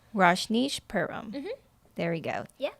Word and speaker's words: Rajneeshpuram: one that I know completely nothing about or pronounce. How do you say it? Rajneeshpuram. Rajneeshpuram.